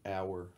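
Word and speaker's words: Auer: Got a blue Mason Ayer? It's pronounced like hour.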